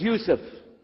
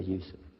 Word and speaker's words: Yusuf: we'll work on it inshallah my name is Yusuf did you say Yusuf let me say Yusuf you're very good I wish you teach my